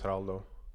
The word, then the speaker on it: Geraldo: My full first name is Geraldo.